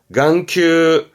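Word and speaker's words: 眼球: 발음은 강가, 강가에서 음은 강이에요. 강가. 안구. 네, 눈알 안구입니다. 강큐.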